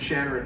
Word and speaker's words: Shannara: I say Shannara.